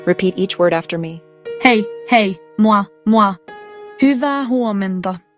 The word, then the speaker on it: hei: First, let's focus on the word hei. It is pronounced just like the English word hey, hey.